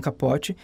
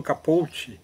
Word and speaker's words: Capote: Truman Capote, algumas pessoas pronunciam Truman Capote, mas na verdade o sobrenome dele é um sobrenome herdado, né, do seu padrasto, que era cubano, então por isso que eu falo Capote, ou Capote, né, faria assim, mas